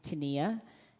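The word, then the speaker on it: Tenia: not why i like her her name is tania that's spelled t-e-n-i-a and she just released a new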